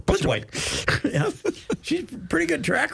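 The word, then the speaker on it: Plitzuweit: I've decided if you say it real fast without syllables, you can pronounce it correctly. Blitzerwhite.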